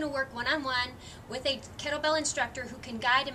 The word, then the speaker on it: kettlebell: Kettlebell obviously is different than a dumbbell, and here's one thing, kettlebell, dumbbell. This is not a kettleball, so make sure that you're pronouncing it correctly.